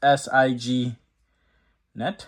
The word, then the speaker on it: Signet: That's how I'm going to pronounce it. Cuz it's S I G net, Signet.